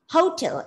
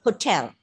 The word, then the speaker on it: hotel: you know that uh when you pronounce a noun or an adjective with two syllables normally the first syllable is stressed but you know the exceptional case so hotel is such a word so it's not hotel it's hotel okay yes yes yeah